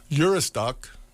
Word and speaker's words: Juristac: Eurystique, that's a pronunciation.